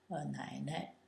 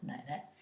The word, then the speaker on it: 奶奶: You have the woman radical, and this gives you a hint at the pronunciation, and it's 奶奶, 奶, in the third tone, 奶奶.